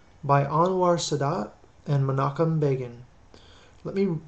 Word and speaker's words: Begin: Menachem Begin is spelled M-E-N-A-C-H-E-M B-E-G-I-N. Looks like begin. Pronounced begin.